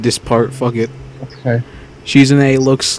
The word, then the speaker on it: Shizune: Shizuki? Shizune. Come on now. Shizune. I can't fucking pronounce it.